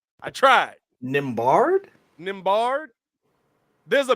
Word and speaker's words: Nembhard: Ain't no T in that man's name. Nembhard is how he's pronounced it.